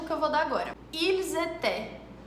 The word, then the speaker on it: Ils étaient: Na grande maioria das palavras, a última letra nem sequer é falada. Então, presta atenção nesse exemplo que eu vou dar agora. Ils étaient. Ils étaient.